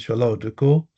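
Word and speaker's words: Sola Oduko: Again, my name is Shal Oduko. It is spelled S O L A and O D U K O.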